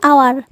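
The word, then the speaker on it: hour: Example, an आवर, ओ का pronunciation हो रहा है, एच साइलेंट है, इसलिए एन का यूज़ हुआ है।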